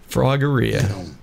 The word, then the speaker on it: Froggeria: Froggeria. You know how I remember that? Because it rhymes with diarrhea.